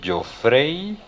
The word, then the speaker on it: Joffrey: Eh, por aquello mi nombre es un poco diferente, entonces yo lo pronuncio yo frey, pero suena como a yo freí un huevo.